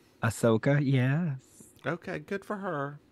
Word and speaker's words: Ahsoka: Star Wars series oh is that how you pronounce her name Ahsoka yes okay good for her good friends I